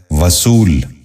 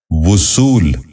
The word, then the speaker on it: وصول: غور سے سنیے، وزن۔ تیسرا لفظ ہے وصول۔ یہ غلط تلفظ ہے، درست تلفظ ہے وصول۔ دوبارہ سنیے، وصول۔ بچوں